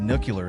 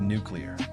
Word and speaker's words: nuclear: had a Prof who said nucular instead of nuclear loudly crying face supposedly